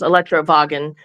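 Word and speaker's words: Elektrowagen: would have been pronounced Electrowagen, which was invented in Germany in 1888.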